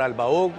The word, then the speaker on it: Albaugh: Bueno, Albaug, ¿así se pronuncia, no? Albaug, sí, señor.